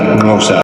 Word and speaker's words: Xhosa: Hence, Xhosa is usually pronounced something like Xhosa.